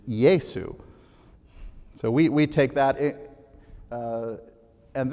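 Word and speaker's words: Iesus: is his name well we say Jesus that's our English version but we get our English name from his name in Latin which is yaesu so we take that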